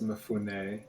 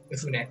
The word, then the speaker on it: Mifune: Technically, it's Mifune. Mifune. My bad.